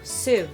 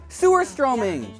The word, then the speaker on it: surströmming: Have you ever had surströmming? No. Am I saying it right? Surströmming? No, sur. Sur? Sewer! Sewerströmming! Sewerströmming! Holy shit!